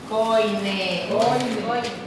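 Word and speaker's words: Koine: Coine. Aunque se escribe Coine y se presenta Caine.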